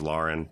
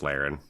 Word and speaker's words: Laren: Our last question comes from, they say her name is Lauren, but it's Laren.